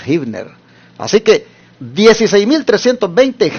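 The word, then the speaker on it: Huebner: de San Antonio esta está en el 16320 hibner Rod interesante se escribe en inglés con hu evner r con h hevner pero se pronuncia hibner Así que 16320 hibner Rod San Antonio Texas 78 248 rentamos en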